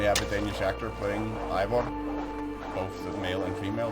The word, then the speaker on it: Eivor: Like Eivor would be pronounced Ivor, not E. It seems to be a bit of an odd choice, given that they actually have a Danish actor playing Ivor, both the male and female version.